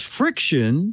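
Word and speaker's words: FriXion: how do you pronounce that name because they spelled with an X she said it's friction oh and it's pens with erasable ink can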